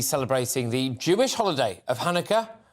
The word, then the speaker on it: Hanukkah: Well, many of you will be celebrating the Jewish holiday of Hanukkah, or however else you pronounce it, Chanukah, is that right? I go for Hanukkah.